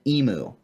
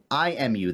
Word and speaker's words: imu: They butchered it, prepped it, and they built an emu. Not EMU, IMU, the Hawaiian ground ovens up at their property, a few miles up into the mountains from me.